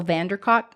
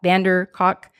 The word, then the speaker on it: van der Kolk: some of your listeners, but it's by Bessel van der Kolk, K-O-L-K, Kolk, van der Kolk, Kolk. C-O-L-K. We'll spell it.